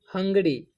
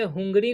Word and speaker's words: hungry: ए हंगरी, HUNGRY। ठीक, तो इसे हुंगरी नहीं पढ़ना है, इसे पढ़ना है हंगरी।